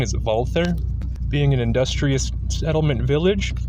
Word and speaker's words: Walther: Zea midle East Germany although commonly people say Walther the correct German pronunciation is wther being an industrious settlement Village walther's father August